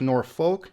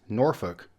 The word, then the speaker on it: Norfolk: of the biggest cities in Virginia it's not pronounced Norfolk it's Norfolk and then we have this one here I